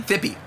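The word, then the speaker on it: Phippy: Am I saying it pronouncing correctly when I say, is it Fippy? Fippy.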